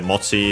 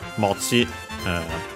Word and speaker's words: mochi: By the way, mochi on its own is unaccented, while this one, it's the compound is accented on the last syllable, on the sa, ksa mochi, just like ksa, but most likely it's simply because it's a compound.